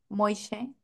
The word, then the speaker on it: Moishe: vista, cuando llegó Moishe a Veracruz, ¿cómo se pronuncia? Moishe.